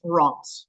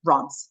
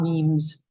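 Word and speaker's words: Reims: it's pronounced re Ms um but it's usually pronounced Ron so um Ron is the correct way to pronounce that not memes uh there are a couple of us testing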